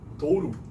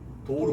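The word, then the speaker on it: Douro: 이게 도우루라고 있는 이유는 그 이 포르투갈어는 모음이 끝에 나오면 변하는 특징이 있는 게 이를 진짜 이라고 읽고 오를 우라고 읽는 특징이 있어요. 그래서 도우로가 아니라 도우루라고 읽는 거고.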